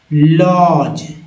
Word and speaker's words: lodge: अब देखिए, LODGE, तब क्या बोल रहे हैं? जी को ज बोल रहे हैं, लॉज, जहाँ डी साइलेंट है, लॉज हुआ ना।